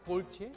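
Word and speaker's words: Galtier: 발음이 갈티에가 아니고 골티에?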